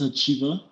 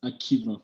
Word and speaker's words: Hacjivah: to pronounce me so my name is achiva but everyone actually pronounces this akima for some reason yeah